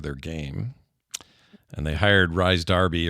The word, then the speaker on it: Rhys Darby: And they hired Rhys Darby, or Reese, I think is how you say it. Reese Darby? Yeah, I think it's Reese.